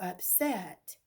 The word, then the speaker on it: upset: is so upset or do you say that little girl is so upset yes so the accents coming on that second syllable again all right so